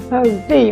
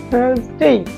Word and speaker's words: Thursday: থার্সডে, অনেকটা বাতাস বের হবে হালকা, এবং থার্সডে, জিহ্বাটাকে আস্তে টেনে আমরা ভিতরে নিয়ে নিব, থার্সডে।